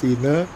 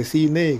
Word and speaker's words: Sine: Tapi banyak yang komplain itu E-nya itu pakai E jejek, Bosku. Bukan E miring gitu ya. E sama E itu beda gitu ya. Dan ternyata orang-orang bacanya itu pantai sine gitu ya, Bosku ya. bukan pantai Sin tapi ya enggak apa-apalah toh maknanya juga sama gitu ya.